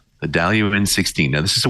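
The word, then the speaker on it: Dailuaine: And this particular one is Daluin. Now, there's a lot more letters in the name than this, which you actually pronounce. Like the I disappears. Like Worcester, Massachusetts. Daluin. The Daluin 16.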